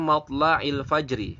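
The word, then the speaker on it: مَطْلَعِ الْفَجْرِ: Kemudian juga ada kata matla'il fajri. Matla'il fajri, maka dibacanya adalah matla'il fajr.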